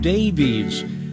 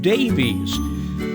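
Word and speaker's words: Daveiss: his name was d-a-v-e-i-s-s that would suggest he pronounced it davies so why do counties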